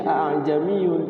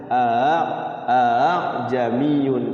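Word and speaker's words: أأعجمي: tashil a jamiyun tuh tulisannya ajamiyun tapi kalau secara apa bacaan itu bukan ajamiyun tapi Hamzah yang kedua itu dibaca ringan Bagaimana cara bacanya kan guru harus mencontohkan a a bukan aha kan KAD ha cenderung Ke ha besar Padahal ringan saja baca hamzahnya a jamiun ringan Hamzah yang keduanya itu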